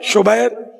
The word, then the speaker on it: شبیر: رائج شبر اور شبیر، اعلیٰ حضرت نے اس کا تلفظ یہ بیان کیا، شبر، شبیر، مشبر۔